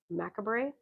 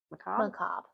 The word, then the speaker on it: macabre: He's also best known for his poetry and short stories, particularly his tales involving mystery and the macabre. Macabre. Oh, macabre, okay. The R is silent.